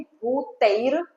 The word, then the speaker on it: भूतैर्: रफार है 2 बार, तो उसमें हमें ये बोलना है भूतैर, रफार क्योंकि ऊपर है तो र का उच्चारण इस तरफ होगा।